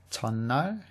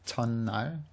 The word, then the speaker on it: 첫날: We have another one of these words that's pronounced differently from the way it's spelt, 첫날, and this one is quite frequently used. Many of you probably already know it or have seen it, so this one's also good to remember that it's pronounced differently, 첫날. It just sounds like two N's.